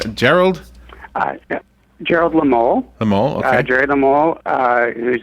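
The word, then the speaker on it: Lemole: McKee pronounce the other names. Gerald? Gerald Lamole.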